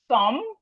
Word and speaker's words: thumb: We have doubt, debt, lamb, thumb, plumber, plumber, thumb, lamb, debt, doubt. So we can see here that the B is silent.